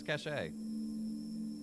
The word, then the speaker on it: Cache: It's pronounced like cash. Exactly. No one says cachet. I lived in Cache Valley, not Cache Valley, for college.